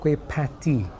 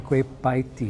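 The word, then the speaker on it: kueh pie tee: early cookbooks and media, they're called kueh patty, after patty shell, right? Kueh patty. And then over the years, suddenly it became kueh paiti. Yeah. Because pat is not a syllable that you find in any Asian dialect or any Chinese or Malay dialect, right?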